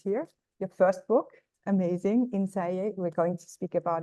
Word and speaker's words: Innsæi: of course a co-director and script writer of ins do I say it right yeah ins yes in the SE within and it's available